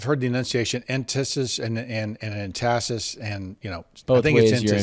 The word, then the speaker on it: entasis: Okay, so entasis, it's spelled E-N-T-A-S-I-S. And I've heard the enunciation entasis and entasis, and both I think ways it's your emphasis is on the wrong syllable.